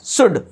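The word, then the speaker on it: should: जो है ये क्या है साइलेंट है ना साइलेंट वर्ड है इसलिए हम इसको क्या पढ़ेंगे शुड ठीक है तो इस प्रकार हमने इसका एग्जांपल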